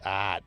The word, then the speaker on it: EART: Yeah, I think it is pronounced heart or art. It's art.